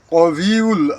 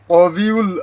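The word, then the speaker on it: الْقَوِيُّ: এখানে বাংলা উচ্চারণে কফলা থাকলে এইযে কফের মতন উচ্চারণ হবে ইয়ারজু মাইয়াশাহুয়াল কবিউল আজিজ কবিউল এই জায়গায় হবে কবিউল আজিজ কাবিউল উচ্চারণ হবে না।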